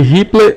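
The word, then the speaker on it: ripple: ondulação ou tensão riple se escreve riple mas se lê riple V ondulação é igual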